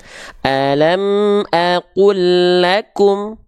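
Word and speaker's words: ألم أقل لكم: Kita adakan tanda tasydid, lalu kita hilangkan lam sukun di sini. Cara bacanya sama nggak? Yuk coba. Alam aqul lakum. Nah, jadi tanda tasydid di sini adalah wakil untuk mewakilkan bunyi lam sukun yang awal dimasukkan ke sini, diidghamkan.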